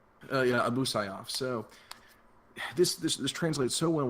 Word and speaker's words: Abu Sayyaf: Abu Sayyaf? Yeah, Abu Sayyaf.